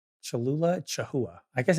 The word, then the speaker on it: Cholula: Tanner says, "My entire immediate family cannot pronounce Cholula. We have Cholula in our fridge all the time, no matter what. But my mom, my dad, and my brother all say Chaha."